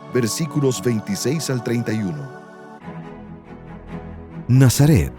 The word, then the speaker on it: Nazaret: Nazaret, o Nazarat, como se pronuncia su nombre en hebreo, es la cuna de la cristiandad.